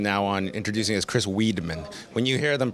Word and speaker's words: Weidman: kid someone would say Weedman my teacher would call me Weedman like no it's Wiman but then I actually found out recently like my name actually might be pronounced W uh Weedman because this whole you